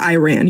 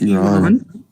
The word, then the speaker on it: Iran: It's not Iran. You're not running. It's Iran.